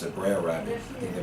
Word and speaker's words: Brer Rabbit: How would they pronounce it? Brer Rabbit.